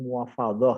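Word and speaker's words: mufawadhah: Yang pertama adalah syirkah muwafadhah ya, tulisannya muwafadah ya, bacanya muwafadhah ya kalau dalam bahasa Arab ya.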